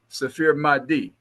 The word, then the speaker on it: Safeer Mahdi: It's Safer, SAFEER and actually pronounced Safir Mahdi. Safir Mahdi.